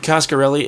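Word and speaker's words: Coscarelli: I have such a nostalgic love for it costarelli is that how you pronounce his name yeah Don costarelli did he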